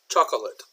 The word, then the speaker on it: chocolate: up to you now often you will hear a pronounced chocolate chocolate I like chocolate chocolate ice cream but sometimes will pronounce it more as chocolate this oh here will sort of disappear a little bit chocolate chocolate chocolate I